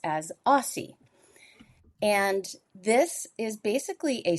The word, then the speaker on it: AWSSI: So, the thing I invented was uh a weather index called the accumulated winter season severity index, AWSSI, which I pronounce as AIE.